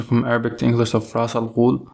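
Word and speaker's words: Ra's al Ghul: of Ras Al Ghul, not Ras Al Ghul, or Resh Al Ghul. It's Ras Al Ghul. That's the proper pronunciation in Arabic, and whenever Batman calls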